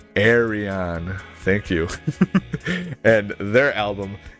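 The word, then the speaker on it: Ayreon: how to pronounce the name of this band pronounce Aron Arion thank you and their album Into the electric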